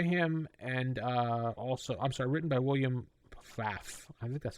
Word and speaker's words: Pfaff: and written by William Pfaff. I think that's how you pronounce his name. P-F-A-F-F. Pfaff? I don't know. Pfaff? Pfaff? Yeah. It'd be Pfaff. Probably the P is silent.